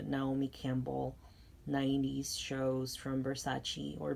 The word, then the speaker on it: Versace: And I wanted the Naomi Campbell 90s shows from Versace, or Versace if you're like a pronunciation aficionado.